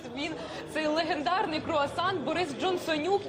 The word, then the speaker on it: Джонсонюк: жартума його називають джонсонюк бо воно так і читається джонсонюк ось власне мені справді